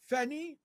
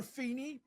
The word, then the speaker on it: FENI: Fenny or Feny, but any way you pronounce the ticker symbol, it's Fidelity Enhanced International.